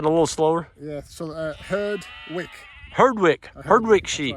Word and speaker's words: Herdwick: Could you pronounce that a little slower? Yeah, so Herdwick.